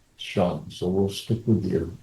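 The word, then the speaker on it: 乘: are familiar with Chinese, the word for vehicle, actually now in these days is pronounced Chung. So, but in the Tang Dynasty and before that, pronounced Shang.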